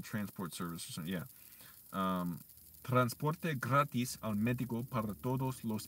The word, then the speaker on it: gratis: of e in Spanish the letter I in Spanish is e that's how you pronounce it so I mess it